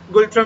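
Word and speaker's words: Ngultrum: Currency क्या है, गुलट्रम, ठीक है, एन का प्रोनाउंसिएशन नहीं है, यहाँ की करेंसी क्या है, गुलट्रम यहाँ की करेंसी कहलाती है, और भाषा जोंखा, भाषा क्या है, जोंखा।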